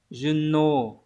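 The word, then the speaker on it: 順応: Được đọc là Juno.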